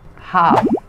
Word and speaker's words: half: Half, setengah, bukan half tapi half gitu ya, half. Jadi L-nya tidak dibaca, ingat L-nya tidak dibaca, jadi half.